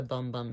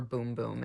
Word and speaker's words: Bum Bum: six 2 which is the Original Scent the bum bum scent or boom boom as it's pronounced as well as a little mini of